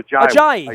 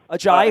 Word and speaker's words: Ajayi: with this young man, Ajawi, I think. We're all trying to figure out the pronunciation. Yeah, we're all trying. It sounds like Hawaii. They told me so. Ajayi, Hawaii. Ajayi, Hawaii.